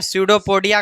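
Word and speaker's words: pseudopodia: पोडिया ठीक है ना पी एस ई यू डी पी ओ पी ओ डी आई ए हां पी साइलेंट है सूडो पडिया पी चुपचाप है अब देखो इसका भोजन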